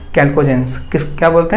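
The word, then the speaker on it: chalcogens: इनको चैल्कोजेंस या कैल्कोजेंस बोलते हैं, चैल्कोजेंस नहीं, यहाँ पे एच साइलेंट है।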